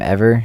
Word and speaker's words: EVRR: It's with the artist/producer named Ever. It's spelled EVRR !